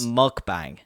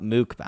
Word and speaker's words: mukbang: said that word I've only typed it it's pronounced mukbang not mukbang mukbang mukbang mukbang yeah I knew that but